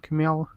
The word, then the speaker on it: Kumail: And what's the name of Kumail Nanjiani? Yeah, right. That's how you pronounce Kumail.